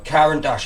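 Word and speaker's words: Caran d'Ache: Yeah, so Karen Dash, I know I've got a bit of a funny accent and other people don't.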